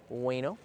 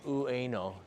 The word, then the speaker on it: Ueno: This is full bloom here in Ueno. Nobody actually says Ueno. You just say Ueno. You can say it really fast. It sounds like way no.